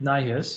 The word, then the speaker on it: NIHIS: And what we're doing with NIHIS, as it's pronounced, is a lot of things, and I'll get into this a little bit more when I get to the slides.